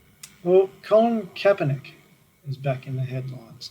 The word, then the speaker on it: Kaepernick: league over there and copernic is known really kaepernick rather sorry i'll pronounce his name correct me kaepernick is known